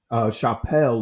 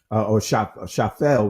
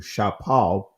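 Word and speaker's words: שפל: Chapel is the or Shafel rather, in the Israeli, is how this is pronounced in the ancient Hebrew, Shapal.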